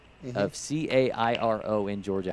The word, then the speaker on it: Cairo: a city name of c a i r o in Georgia how do you say that name Cairo oh good job I like it I